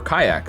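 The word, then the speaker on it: qajaq: decide Kutcher kayak um the kayak with the Q and the J I was told that's how it's pronounced by the way um it's apparently I think an Inuit word for kayak so it's just pronounced the same as kayak but uh I'm I'm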